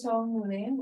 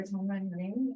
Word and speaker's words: Chong Lim: Perfect pronunciation. My name is Chong Lim, or Chongman Lim, and I work at a nonprofit organization called Cultural Business.